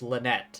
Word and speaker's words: Lynette: to be is pronounced Lynette and I'm just like oh pronouncing it English style rather than French style big news everyone the